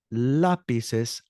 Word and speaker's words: lápices: ¿Cuántos lápices hay? Now, lápices is spelled Lapices with an accent over the A.